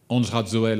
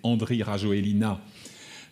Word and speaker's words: Andry Rajoelina: Andj Radzoel en malgache, vous le verrez écrit et vous l'entendrez prononcer Andry Rajoelina en français.